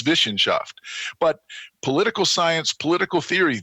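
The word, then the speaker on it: Wissenschaft: of the modern university to what they called vishen shaft and i was surprised i taught in germany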